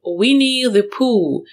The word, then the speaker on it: Winnie the Pooh: Звичайно, що це буде Winnie the Pooh. Вінні-Пух. Нагадую, що остання літера H не вимовляється взагалі.